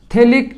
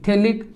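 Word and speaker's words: phthalic: थैलिक anhydride, ठीक है? हाँ, उसकी स्पेलिंग पी से शुरू होती, थैलिक एनहाइड्राइड।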